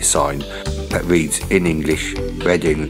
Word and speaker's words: Reading: that reads in English, Reading, that rhymes with wedding and not the act of understanding words through the eyes street.